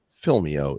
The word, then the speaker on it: Film.io: is film dot IO but make sure you pronounce it right filmio is the site Alvina welcome to the bed